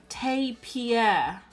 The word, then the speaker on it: tapir: Oh, it's pronounced tapir.